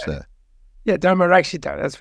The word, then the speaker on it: Dharmarakshita: How do you pronounce that? Yeah, Dharmarakshita, that's right.